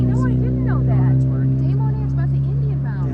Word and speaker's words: Des Moines: Des Moines, which means the mounds. It's about the Indian mounds. I don't know if you knew Moines? that. Oh, really? No, I didn't know that. Des Moines is about the Indian mounds.